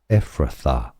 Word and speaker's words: Ephrathah: So stay tuned from Hebrew the pronunciation is as Ephrathah.